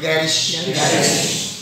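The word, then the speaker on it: garish: अच्छा इसकी प्रोनाउंसिएशन पहले तो ऐसे बोलो, गैरिश, बोल लिया ठीक समझ में आ गया, अब उल्टा करो, ग्रीस, बोलो ग्रीस, ग्रीस।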